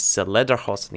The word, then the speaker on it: Lederhosen: I was remembering it when I was reading Wikipedia page about Lederhosen, or how to say it is Lederhosen.